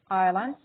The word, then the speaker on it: islands: Islands of salt. Islands of salt. Islands of salt. بمعنى شوف كلمة islands الجزر. الS silent. cannot be pronounced. لا تلفظ. الS silent فتنطق islands.